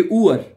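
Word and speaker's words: Uhr: ऊ, यू को, इसको आपने यू को ऊ पढ़ना है, ऊ, सही है। यू नहीं पढ़ना है इसको, ऊ, ठीक है। जैसे कि ऊअर है, लफ्ज भी लिखा हुआ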